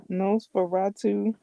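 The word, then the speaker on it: NOS4A2: Um, nose for ratu, but it's spelled it's it's by Joe Hill. is um spelled nose 4 A2. N O S the number four. The letter A. The number two.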